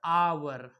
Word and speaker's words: hour: यहाँ पे क्या है, ये पे एच साइलेंट रहता है। इसको प्रोनाउंसिएशन जब करेंगे तो हो जाएगा आवर।